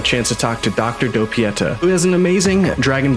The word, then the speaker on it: Doppietta: Dragon Ball Z Budokai specialist, I'm gonna probably pronounce this wrong, Dr. Doppietta. Is that correct? Almost, it's Doppietta, but whatever, it's fine.